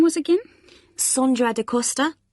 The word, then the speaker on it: Sondra: your name was again sondra de costa is that sandra no it's spelt with an o so that's s-o-n-d-r-a and can you spell